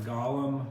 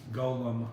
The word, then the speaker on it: golem: called somebody called it a gollum not like the excuse me golem i'm saying it wrong gollum is the thing from northern rings but he allegedly created